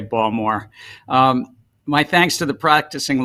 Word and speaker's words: Baltimore: He is a native of Baltimore, pronounced with a soft D, not a hard T, and Chair Gensler is the proud father of 3 girls and a graduate of Wharton.